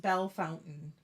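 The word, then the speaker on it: Bellefontaine: okay Queen Anne said it's pronounced Belle Fountain I did not know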